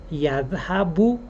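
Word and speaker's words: يذهب: already talked about this, the last short vowel of a word in Arabic is optional to pronounce. So for example, if we want to say he goes, we have two ways of doing that. We could either say huwa yadhabu and pronounce the u at the end of the verb, or we could just say huwa yadhab and just end it there.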